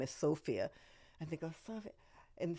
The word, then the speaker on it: Sophia: oh I understand no I don't mean sopia that's her name sopia Loren I mean Sophia as in long o sound with a vowel followed by the consonant which makes it a long o right but it was